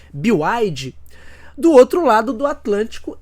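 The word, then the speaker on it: BYD: existem as montadoras chinesas em especial a bide mas a pronúncia correta parece que é bioide do outro lado do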